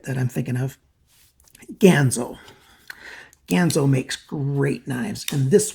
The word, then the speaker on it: Ganzo: wrote in and it's gonzo you know like kin or tan or man or fan or ban or any other word